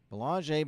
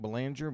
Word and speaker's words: Belanger: Looks like Belanger, but it is a French pronunciation.